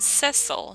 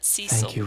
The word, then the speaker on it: Cecil: been pronouncing everything wrong isn't it sessile not ccq Rosa but I know